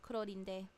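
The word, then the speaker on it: Clorinde: So yeah, the English in the English dub, they use the proper pronunciation of Clorond's name because it's a French name. In Japanese, it's Kurorinde. Clorond enters the night vigil state after using her elemental skill.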